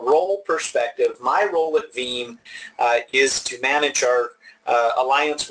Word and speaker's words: Veeam: say it in its theme and it rhymes with team the name does not